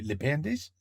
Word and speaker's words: bandages: How do you say bandages? Les bandages? Les bandages? Not bondage.